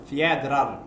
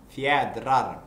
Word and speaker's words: Fjädrar: How do you pronounce this? Fjädrar. What? Fjädrar.